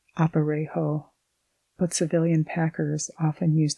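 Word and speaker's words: aparejo: The government uses a Spanish pack saddle or what is known as an oparejo pronounced oparejo but civilian packers often use the cross tree saddle.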